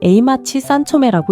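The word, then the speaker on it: 栄町三丁目: 일본 말로는 에이마치 산초메라고 읽지요.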